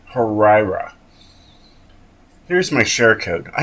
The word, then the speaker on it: Huayra: drive drift for this Pagani harra yes that is how you say it harira here's my share code